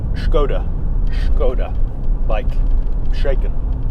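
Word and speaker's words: Škoda: wrong they're having a you're supposed to say I believe as if you're doing about Sean Connery impression so its Skoda gonna mike shaken not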